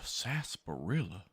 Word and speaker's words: sarsaparilla: A sarsaparilla? That rhymes with gorilla.